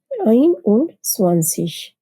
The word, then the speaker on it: einundzwanzig: Here, the ‘s’ in ‘eins’ is dropped and it is pronounced ‘einundzwanzig.